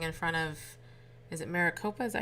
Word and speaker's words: Maricopa: Patriots are protesting in front of is it Maricopa is that how you say it yes Maricopa County in in uh Arizona that's where Joe